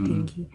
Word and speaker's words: dengue: Tulisannya dengue gitu ya, tapi bacanya denggi.